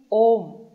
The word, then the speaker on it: Om: In all the literatures, it is only Om, no Am. There is A plus U plus Ma. It is written that way, but it is never pronounced that way.